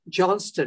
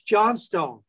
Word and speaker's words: Johnstone: last name again and i said johnston he said no it's not it's john stone when i first started